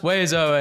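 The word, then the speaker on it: oiseaux: No letter is pronounced the way it should. And then there are 7 of them. It's pronounced Wezo, and yes, I will die mad about it.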